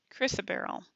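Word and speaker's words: chrysoberyl: to the next chapter crazy barrel really crazy barrel right pronunciation Chrissa barrel Chrissa barrel and it is a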